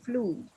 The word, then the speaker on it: flew: Jadi di sini dirubah menjadi flu. Flu. Flu ini cara bacanya gini nih. Flu. Sama kayak gitu cara bacanya.